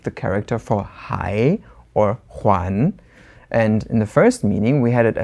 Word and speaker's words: 还: So the very last definition of this word, we're going to go to the pronunciation huán, second tone. Instead of hai, we have huán, which means to give back or return.